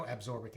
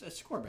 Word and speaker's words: ascorbic: Maybe there's no absorbic acid. Maybe it's abscorbic. Okay. I just always mispronounced it. It's ascorbic. Ascorbic.